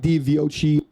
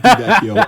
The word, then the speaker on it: DiVecchio: Mike DiViochi. Hey, this is Editor screaming at YouTube on why the hell I pronounce his name like that. It's Mike DiVecchio, and you should learn